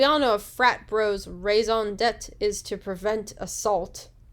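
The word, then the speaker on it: raison d'être: by the world, but I believe it's raison d'etre. Raison d'etre. Basically, reason to be, reason for being. Okay. Because we all know a frat bro's raison d'etre is to prevent assault.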